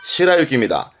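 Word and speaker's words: 白雪: 이때 발음은 시라유기입니다. 이때는 시라갑니다. 시라.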